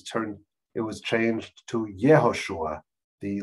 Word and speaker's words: Yehoshua: and it was turned it was changed to yehoshua the letter yot was added and this this letter yod right j pronounced in english joshua you yoshua i think